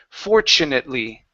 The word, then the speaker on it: fortunately: this word is fortunately so the TU creates a CH sound for CH fortunately for Charlie I'll watch